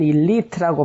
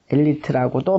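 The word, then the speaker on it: elite: 우리는 일리트라고 발음하고 한국 사람들이 발음하는 엘리트라고도 말을 합니다.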